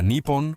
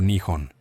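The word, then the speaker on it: 日本: estos caracteres kanji y se pronuncia nipon o nihon voy a pronunciar mal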